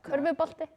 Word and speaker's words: körfubolti: Körfubolti. Okay, but say it with us. Körfubolti. No, I can't say that. But try it. Slow it down. Körfubolti. Curvebate.